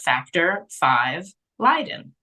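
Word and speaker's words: Factor V Leiden: a genetic condition and it's called Factor five Leiden and it's spelled with the letter V like the Roman numeral V and then Leiden is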